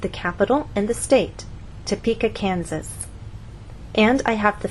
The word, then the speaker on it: Topeka: be misunderstood for example if you tell any American that you have friends in topa kenzas they're going to look at you and ask what country is that in what continent is that on but if you move the stress to the correct place and try again tell the Americans that you have friends in Topeka Kansas now they'll understand there is a state